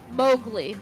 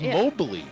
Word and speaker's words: Mowgli: thought it was like I thought it was Mobly no mowle m o WG l i oh okay I've been pronounced it wrong the whole time go ahead uh mowgli's